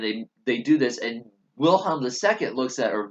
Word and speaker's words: Wilhelm: they do this and wilhelm ii looks at or Vilhelm and the w sometimes pronounced is a B I'm gonna doesn't matter